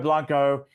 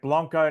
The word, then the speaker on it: Blanco: one's particularly fantastic beasto Blanco and I I'll be careful to say blanco not Blanco the way the Aussies say it he Chuck G Chuck